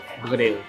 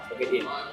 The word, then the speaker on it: begedil: How to pronounce begedil properly? be ge dil What? begedil Go L one. begedil Got L.